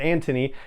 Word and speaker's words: Anthony: and then i know i you know americanize it and say anthony daniels but he pronounces it antony anthony daniels reading from